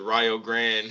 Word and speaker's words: Rio Grande: You're up in how y'all pronounce it, Rio Grande Yes, sir. Yes, University sir. Rio like out in Ohio.